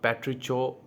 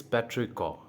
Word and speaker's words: petrichor: The correct pronunciation it's not patricio, it's patrico, which means the pleasant smell that is left behind the rain.